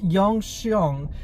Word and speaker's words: Gyeongseong: I think it's uh Jong xong give me a second I'll be back okay I'm back so it's pronounced Yong xong it's so it's Yong xong creature and I think